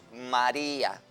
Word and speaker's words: María: También tenemos María, que cuando la divido en sílabas es una palabra trisílaba y es una palabra llana porque la fuerza de pronunciación está en la penúltima sílaba y termina en vocal,